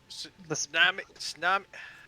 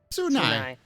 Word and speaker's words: Tsunai: Tsunami. How do you say your name again? Tsunami? Sani. Tsunai. Tsunai.